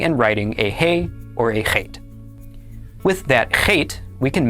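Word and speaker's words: אָח: The aleph is silent, and then the kamatz makes the sound ah. And finally, the chet makes the sound ch. Altogether, this is pronounced ach.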